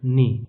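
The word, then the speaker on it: knee: तो यहाँ पर एन और उसके बाद बड़ी ई, ये है लॉन्ग वॉवल मोनोप्थोंग, ये हो गया इसका प्रोनाउंसिएशन नी। यहाँ से के हमने गायब कर दिया।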